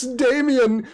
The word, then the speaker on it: DAM13N: Yes, Damien, shoot them out of the sky. And you know that Damien is spelled DAM13N. It's how she pronounces it.